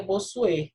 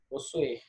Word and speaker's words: Bossuet: E aqui é Bossuet. No final, fica como se fosse um R, tá? Bossuet.